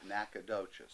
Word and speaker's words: Nacogdoches: is a love song, Well, where I'll I pronounce come it from, correctly. It's Nacogdoches.